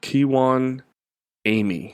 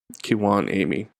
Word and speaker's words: Kijuan Amey: So, I got an email um from Kiwan Amy is his name, but it's spelled K I J U A N A M E Y. So, Kiwan Amy.